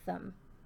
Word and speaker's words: thumb: finger, I-N-D-E-X, and lastly, our thumb, which is a T-H-U-M and a silent B for thumb.